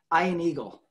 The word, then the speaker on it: Ian Eagle: was like oh it's ian eagle and he pronounces it i an eagle oh i get it